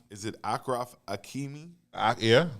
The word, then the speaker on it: Achraf Hakimi: I can't even pronounce his name. Is it Achraf Hakimi? Yeah. Achraf Hakimi.